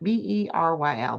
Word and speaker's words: Beryl: Burial. Barrel? Barry? How do you say that? Beryl. Barrel. My pronunciation is awful.